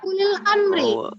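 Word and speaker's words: أولي الأمر: Ini ulil amri artinya adalah penguasa atau pemimpin. Ulil amri hukum bacanya adalah tadi ulil amri. Pada kata ulil amri kebanyakan dibaca panjang u-nya, tapi seharusnya dibaca pendek ya. Ulil amri.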